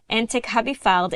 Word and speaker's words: Entekhabifard: and the situation inside of Iran is Camelia Entekhabifard, editor-in-chief of the Independent Persian. Camelia, I hope I pronounced your last name correctly.